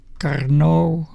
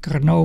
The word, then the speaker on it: Karnaugh: carau map so this I have to say this this is a Carno I think you have to pronounce it like this Kau map and the thing